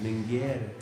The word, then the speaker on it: Minger: And that's Minger, Mingear. That's correct, Minger.